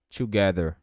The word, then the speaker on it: together: Mas você vai colocar a língua entre os dentes, aí vai soar um som diferente, que não existe no português.